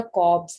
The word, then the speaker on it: Kolbe: कॉब्स ma'am मैं reaction बोल होता है रही थी जिसकी वाटर स्पेलिंग में KOLBE होता है, उसमें L साइलेंट होता है, तो that is अ कॉब्स reaction.